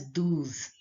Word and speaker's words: douze: 11, 12 is pronounced as douze. Douze. OU sound is pronounced as oo.